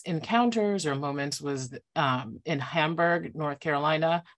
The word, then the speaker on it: Hamburg: One of the most infamous encounters or moments was in Hamburg, North Carolina. I nearly said Hamburg, but I don't think that the upcountry is particularly German in its pronunciation.